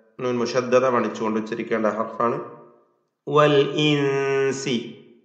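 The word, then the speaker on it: والإنس: വൽ ഇൻസി, ഹംസ വ്യക്തമാക്കണം. വൽ ഇൻസി ഷിദ്ദത്തിൻ്റെ ഹർഫാണല്ലോ ഹംസ. സാക്കിന നൂൻ ഇഖ്ഫാ ഹഖീഖി നൽകി അവ്യക്തമാക്കി മണിക്കുക. വൽ ഇൻസി ഇനിസ്തതഅതും, ഇൻ ഇസ്തതഅതും എന്ന രണ്ട് പദങ്ങൾ ചേർത്തുകൊണ്ടാണ് ഇനിസ്തതഅതും എന്നായത്.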